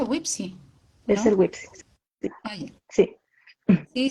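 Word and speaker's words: WPPSI: chiquititos wipsi o sea se escribe wepsi pero se pronuncia wipsi es el wipsi Sí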